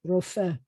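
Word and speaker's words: רופא: in training, medical doctors, we have resh with an O vowel, so that's ro. And then we have the f with an e, and then the silent hey, rofeh is a doctor.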